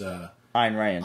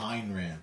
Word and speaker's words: Ayn Rand: That was Ayn Rand. Ayn Rand. Thank you for pronouncing it correctly.